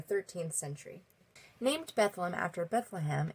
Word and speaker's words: Bedlam: Named Bethlehem after Bethlehem, it was later pronounced as Bedlam. So Bethlehem, Bedlam, Bethlehem, Bedlam, Bethlehem.